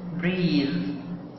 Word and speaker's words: breathe: بعد كده كلمة breathe، وهنا ال THE بتتنطق ذال ومعناها يتنفس.